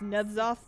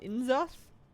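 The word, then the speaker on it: N'Zoth: pronounced Nudzoth, not Inzoth.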